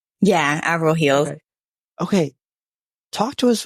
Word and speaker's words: Avril Heels: Am I pronouncing it right? Avril Heels? Yeah. Avril Heels.